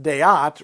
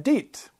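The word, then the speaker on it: deät: So, for example, deat is pronounced deat rather than deet.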